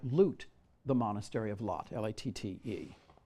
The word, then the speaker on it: Latte: the monastery of Lot, L-A-T-T-E, Latte, but I think it's pronounced Lot.